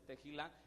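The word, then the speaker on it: תהילה: se lee el hebreo teila en en español verdad la pronunciación fonética en español es teila que es una de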